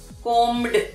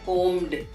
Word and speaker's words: comb: I combed my hair. I combed. Well, it's not comb, it is comb. The B remains silent here.